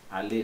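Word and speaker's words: allée: Allé, allé, tem um Ezinho a mais, mas fica quase a mesma coisa.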